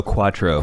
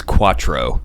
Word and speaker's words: quattro: a healthy that's numero Quatro Quatro yeah except for a health healthy pregnancy don't say it like that you said you sound ridiculous when you say it like that oh sorry it's Quattro yeah sorry the distance